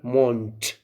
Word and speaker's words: Mond: Of course, they say you have to pronounce it der Mond. We write the, and at the end we say t.